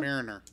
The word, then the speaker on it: Mariner: our um Merina and I'm I'm Pro not pronouncing your name or marinina Mariner Mariner and what's the guy's name boyler boyler